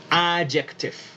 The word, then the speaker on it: adjective: Se pronuncia A, la D no suena, luego yek, con C, la C suena ahí como la K, adject, y luego tif, adjective.